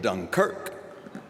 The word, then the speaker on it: Dunkirk: films about Churchill and Dunkirk accent on the second syllable which makes me wonder